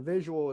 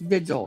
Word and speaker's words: vigil: learned that the the visual is uh candle light is going to be at office. Is it recent? Between seven and nine. It's spelled vigil. It's pronounced vigil, not visual.